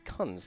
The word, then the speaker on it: Kunz: It looks like Coons, but I was told it is Kunz.